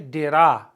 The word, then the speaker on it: dirá: He will say, dirá, accent on the A.